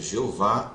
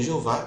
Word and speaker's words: Jeová: no nós podemos ler por combinar os sinais vocálicos de Adonai e Elohim com as quatro consoantes hebraicas do tetragrama formou-se a pronúncia yov e yovi a primeira delas forneceu a base para a forma latinizada Jeová a primeira utilização registrada